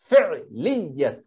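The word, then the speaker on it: فعلية: আপনার মনে রাখবেন, জুমলাতুল ফেলিয়াত ইয়ার উপর তাজদিদ দিয়ে জবাব ফিয়াত ফেলিয়াতু বললে আমরা ফেলিয়াত লিয়াত ইয়ার উপর তাজদিদ দুইবার ইয়ে উচ্চারণ করতে হবে ফেলিয়াতু ইসমিয়াতু ঠিক আছে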